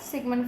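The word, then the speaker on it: Sigmund: साइमन Freud का या सिगमंड Freud जिनको लिखते हैं। जी साइलेंट है।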